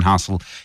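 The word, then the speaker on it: Housel: Hel is spelled H O U S E L. Same as ever by Morgan Hustel is what you're looking for to Google.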